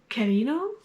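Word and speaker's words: Kirino: Next I have Out by Natsuo Carino. I'm pronouncing that in a Spanish way, but it is Japanese.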